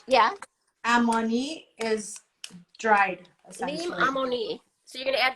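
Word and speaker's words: لیمو عمانی: Limu amoni. How do you say it? Limu is lime. Yeah. Amoni is dried, essentially. Lim amoni. So you're going to add the lim amoni. Yeah. Limu amoni.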